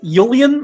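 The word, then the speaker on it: Ullian: They did pronounce it Yulian in the episode.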